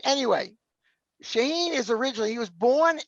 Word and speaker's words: Shaahin: His name is, now we're going to start this off bad because I'm going to mispronounce his first name. It's Shaahin, right? Yeah. Shaahin.